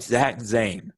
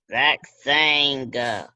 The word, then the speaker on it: Zane: Zach sang. Yeah, Zach Zane. Sang. Sang. I Caleb, I think that's just your accent. I'm saying it right. That's No, just your you're accent. saying Zach sang.